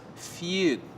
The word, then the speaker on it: FUD: It's pronounced feud.